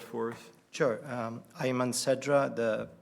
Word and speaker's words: Sedra: sedra would you say your name and please spell it for us sure um Ian sedra the spelling is last name